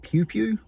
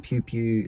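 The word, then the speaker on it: Piopio: puts a place called Pew Pew. Nothing at all to do with firearms. Um, Pew Pew is spelled P I O P I O.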